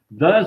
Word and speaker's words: Dans: Os padres Hooke e Gabé, franceses, sendo o primeiro autor das obras Dans le Tibet, Dans le Tartarie e Dans la Chine, né? Como é que é? Dan, não se pronuncia o S.